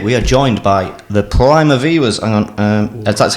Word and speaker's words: Primaveras: How do you pronounce the band name, sir? Primaveras.